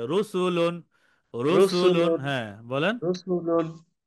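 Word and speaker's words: رَسُولٌ: হবে মোটা হবে যেমন রসুলুন রসুলুন রু মোটা রসুল রসুলুন র এর উপর পেশ আছে তাই র মোটা উচ্চারণে হবে রসুলুন বলি রসুল বলেন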